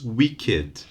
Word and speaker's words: wicked: no verb too weak so the adjective is wicked beloved is a good one because there is